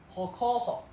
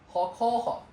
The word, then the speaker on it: hokoho: Hokoho. Hokoho. You can split it into 3 parts. Ho. Koho. Hokoho.